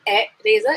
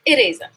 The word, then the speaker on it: eraser: job shah movie but see how i pronounce eraser it's not a razor it's eraser do you have an